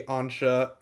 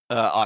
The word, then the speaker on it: Asha: a lot bigger of a deal because obviously Ansha, is that how you pronounce her name? Asha.